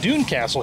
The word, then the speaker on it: Doune Castle: so we are coring the Dune Castle here I am pronouncing it correctly that I found out